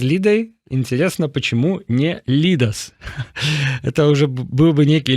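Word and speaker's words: Lyda: Игорь Случак тлумачыць, что Y, вось гэта Y у литовскай читается як И, то бок это Лида, а не Лыда.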